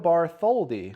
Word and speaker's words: Bartholdi: But today, Art Parman, by the way, you fucked me up, Justin Young, and a very special guest, Joe Bartholdi.